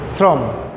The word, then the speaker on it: শ্রম: এটা একটি শব্দ শ্রম, শ্রম লেখা হচ্ছে তালব্য স, উচ্চারণ কিন্তু হয়ে গেছে দন্ত স, সয়ের মতো, তখন কিন্তু আমরা সাদাই হলে এইভাবে বলি শ্রম।